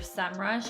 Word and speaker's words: Semrush: okay next one is semm rush I actually don't know if it's called semm rush or sem rush I've heard it pronounced both ways but I'm just going